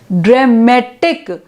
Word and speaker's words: dramatic: are changing the stress drama it's drama it's dramatic and it's dramatically now the stress are being shifted now what are the